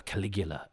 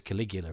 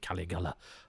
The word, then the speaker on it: Caligula: was first introduced to Caligula in um Judge Dread where there was Judge Caligula and they told essentially the same story although as a youth I pronounced it cigala um I've done a